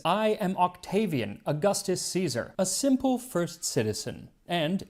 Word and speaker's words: Caesar: 1 Century BC Rome which would be with a hard SE so instead of Caesar he pronounces it AUST Kaiser and attention to detail